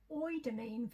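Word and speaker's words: Eudermine: Okay, the next item is by Shiseido, and it's the it's not spelled like that, but I've looked up how to say it, and I think that's as close as I can get. Oidamine Revitalizing Essence.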